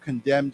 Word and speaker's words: condemn: we say together condemn now you know that there's an n there but we don't have to we don't pronounce that so we